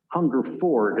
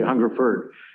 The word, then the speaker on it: Hungerford: thanks for mentoring ward hunger forward as he always pronounced it he didn't say hungerford and but i did